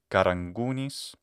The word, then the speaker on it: Caragounis: Anka but of course you write karagunis because that's what it sounds like in the uncultivated or very normal pronunciation the slightly um prenasaled Velar voice stop so uh karagunis karangunis said with the normal